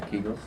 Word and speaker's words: Kegels: Yeah, Kegels.